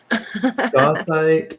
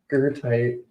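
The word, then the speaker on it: goethite: Gothite, pronounced Gertite. With a German With accent. Accent. It's German.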